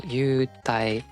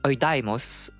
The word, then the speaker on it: Eudaimos: And you have like this U, because it's just the way that English people like pronounce that. Be it like specialists or, just like random people when they try to pronounce things. And I don't pronounce it like that. For me, it's like oidaimos, because it's the way I learned it.